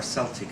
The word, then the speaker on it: Celtic: Well, perhaps I should begin by saying that the word Celtic, or Celtic as some people pronounce it, especially in Scotland, is a somewhat disputed term.